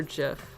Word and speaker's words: GIF: I know it's pronounced GIF, but my brain, I just don't like GIF. It doesn't mesh well with like just the way I speak. I prefer GIF.